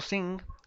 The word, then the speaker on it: sing: caso irregular el verbo sing repitinas conmigo la g no se pronuncia decimos sin sin y la la lengua